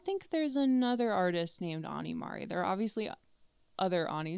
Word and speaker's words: Ani Mari: Um I've always been Anie. Um and I just thought Anie Mari like it kind of rhymes.